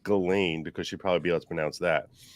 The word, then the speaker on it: Ghislaine: she couldn't even pronounce Ghislaine, which that tells you how her name is actually pronounced. The counsel for the defense pronounces her name Ghislaine, like Elaine with a hard G in front of it.